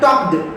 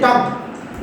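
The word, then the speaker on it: talked: अब देखो मैं टॉक्ड क्यों बोल रहा हूं, हालांकि इसको टॉक कहते हैं, टॉक्ड, लेकिन मैं क्या कर रहा हूं, टॉक्ड। टॉक्ड क्यों कह रहा हूं, मतलब मेरे प्रोनाउंसिएशन में कोई गलती नहीं है, आपको समझ में आया कि भाई टॉक, TAL के टॉक में जब ED लग जाता है तो बन जाता है टॉक्ड। हम लोग उसको बोलचाल में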